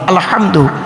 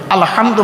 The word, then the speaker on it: আলহামদু: পড়ি আলহামদুলিল্লাহি রাব্বিল আলামিন আলহামদু এই গলার ভেতর থেকে হেটা উচ্চারণ করবেন আলহামদু মানে হচ্ছে সমস্ত প্রশংসা